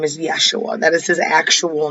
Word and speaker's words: Yeshua: jesus's real name is yeshua that is his actual name um back when he was born the letter j wasn't even out there was no j sound was actually pronounced like a y when j first came